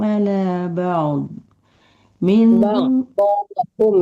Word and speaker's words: بعضهم: Tilkar rusulu faddalna ba'duhum ala ba'd. minhum Ba'dhum ya mandeh, bukan duhum ya, tadi kebacanya ba'duhum. Ba'dhum.